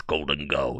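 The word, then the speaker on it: Gholdengo: YouTube comments complaining about the way I pronounced Goldengo. What you want me to do, like, about that? They want it to be Golden Go. Yeah, right. I'm not saying Golden Go, bro, unless TPCI hits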